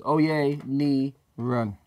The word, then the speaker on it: Oyeniran: So how to say my surnames. Oyeniran.